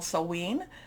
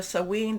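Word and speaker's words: Samhain: month we are also in what's called sewen there's different pronunciations i think i'm doing the scottish pronunciation of this but we can you know you know there's different celtic celtic type of pronunciations so sewing this is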